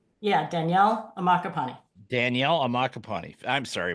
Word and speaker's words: Ammaccapane: about saying it I said it wrong uh amak capani is that right yeah Danielle amaka Pani Danielle amaka Pani I'm sorry about that but